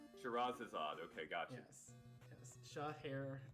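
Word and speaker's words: Scheherazade: the game next game you're doing since i butchered it the magic of shahir is odd shiraz is odd okay gotcha yes yes shot azad it's a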